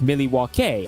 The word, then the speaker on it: Milwaukee: Well, actually, it's pronounced Milwaukee, Algonquin for the Goodlands.